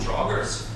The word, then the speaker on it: Draugrs: Oh, Draugrs.